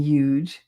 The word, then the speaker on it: huge: I pronounced the H in huge.